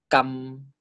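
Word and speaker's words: กำ: So this word is pronounced as kam. Do not pronounce it as kam, okay? When you pronounce this, make sure the vowel is short. Kam, not kam, okay?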